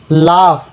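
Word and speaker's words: laugh: Silent है। लाफ जी एफ जी एच को एफ पढ़ते हैं।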